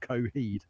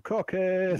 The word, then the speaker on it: Coheed: And apparently you pronounce it Coheed. So yeah, all right. A nightly basis gets lots of kids ringing him up going, Cockhead! Yeah. That was just Coheed.